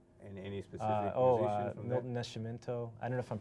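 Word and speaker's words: Milton Nascimento: with the music in any specifically oh uh milton nescimento i don't know if i'm pronouncing him right right ma'am almost perfect oh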